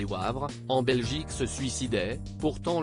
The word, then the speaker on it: Wavre: de cela un couple de femmes habitant à Wavre prononcé Wavre en Belgique se suicidait pourtant le tube international